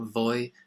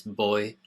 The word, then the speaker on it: voy: Remember the V in Spanish is pronounced like a B, so it's not voy and van, it's boy and van.